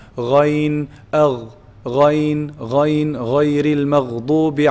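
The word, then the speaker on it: غين: So ghayn is pronounced from the top part, the highest part of the throat, the closest to the mouth. Ghayn, al, ghayn, ghayn, ghayril maghdubi alayhim.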